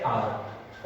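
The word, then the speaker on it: hour: अब इसको कुछ लोग आवर पढ़ते हैं, कुछ लोग हावर पढ़ते हैं, बट इसका सही प्रोनाउंसिएशन क्या है? आर।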